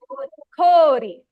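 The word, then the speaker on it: こおり: there are several exceptions the word for ice in Japanese is Cori it's a long o sound right o Ki we can elongate this with o now you might wonder okay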